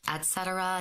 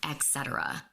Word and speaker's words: et cetera: It's pronounced et cetera, not etc.